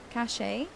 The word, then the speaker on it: cache: Cache? Cache. That's a word that I pronounced wrong my whole life, by the way.